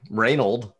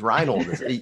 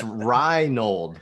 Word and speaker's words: Reinhold: one i mean my my name's not like reynold it's reinhold ei's eye it's cry hi it's hi brighton yeah